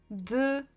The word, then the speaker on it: двенадцать: And if you see, I started actually writing the number with number 2, just because it will show you how you're supposed to pronounce. We kind of start pronouncing with the last letter, last digit, if there are 2 digits like this.